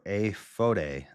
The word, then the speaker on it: Ephod: Aphod, I'm saying it wrong. Aphod, well, in Hebrew, it's pronounced aphod or aphode, aphode, or iphode. AY-FODE with a line.